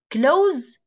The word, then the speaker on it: close: Okay, as an adjective, it's pronounced se, not ze. Close as a verb, like yughliq, close the door, for example.